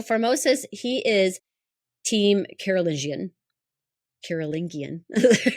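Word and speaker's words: Carolingian: Karolingian, we really want to get that hard G.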